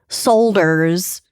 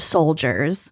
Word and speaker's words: solders: Lead has been used in various products, including gasoline, paint, plumbing pipes, ceramics, solders, which I almost said soldiers. I think it's solders.